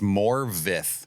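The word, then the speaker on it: Morfydd: We got Morphy Clark. I always feel like I'm pronouncing her name wrong. It's Morvith. Morvith Clark. It's not spelled that way at all. It tries to trick you.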